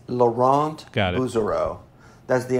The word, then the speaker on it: Laurent: let's see so I'm good news really it's Laura it's Laurent got to zero that's the American Way of